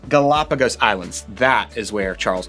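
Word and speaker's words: Galápagos: Galapagos. Galapagos Islands.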